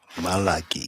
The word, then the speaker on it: Malachi: Anywh who maliki malaki English speakers like to say malachi but I'm not going to pick on the English pronunciation of the word.